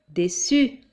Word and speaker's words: déçu: Attention, il y a un U, mais il y a aussi la cédille. Donc ça donne déçu.